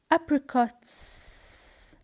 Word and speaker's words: apricots: Apricots. Apricots. I don't say is or is. I say S.